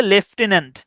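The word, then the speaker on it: lieutenant: আন্ লাই ইউট আন্ কিন্তু উচ্চারণ হচ্ছে লেফটেন্ট লেফটেন্ট ওকে এরপরে দেখেন হেটেরোজেনিয়াস।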